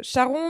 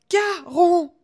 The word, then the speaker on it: Charon: et elle lui dit Charon mais je vous jure sur ma tête et il lui dit comment tu m'as appelé ? Charon. Je ne m'appelle pas Charon. Mon nom se prononce Caron.